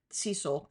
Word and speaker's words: Cecile: I know Cecil is a man's name and it's spelled Cecile with an E at the end, but I know from your grandmother that it was pronounced Cecil.